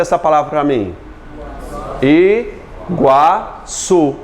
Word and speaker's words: Iguaçu: Iguaçu. O está pronunciado?